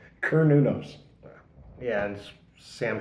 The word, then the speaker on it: Cernunnos: seat not a soft C so it's like her new nose yeah and Sam K is silent it's like okay that that that that